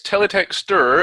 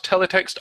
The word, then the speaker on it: Teletext: I get it now I've been pronouncing it incorrectly it's teletex and not teletext a so I'll have